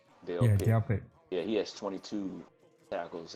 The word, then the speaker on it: Delpit: That's how you pronounce Dale Yeah, Pitt. Delpit.